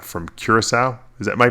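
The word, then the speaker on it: Curaçao: was a trainer, believe it or not, from Curacao. Am I pronouncing that? Yeah, Curacao.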